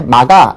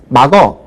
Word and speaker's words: 막아: 그 다음에 막아 이렇게 발음을 해야 되는데 요즘은 막어 이렇게 발음하는 경우들이 상당히 많아요. 그래서 로 발음해야 될 것이 쪽으로 바뀌는 그런 특성을 보이고 있는데 물론 아직은 막아가 맞습니다.